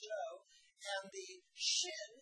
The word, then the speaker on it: Zhou: which is spelled C-H-O-A in English, but it's Zhou, pronounced Zhou, and the Qin, spelled Q-I-N on this map,